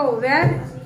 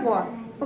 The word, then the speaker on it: were: तो मैं आपको सबसे पहले तो एक चीज़ ये बताने वाली कि वॉज WAS वॉज और WERE आपका वेयर प्रोनाउंसिएशन नहीं है, इसका प्रोनाउंसिएशन है वॉर।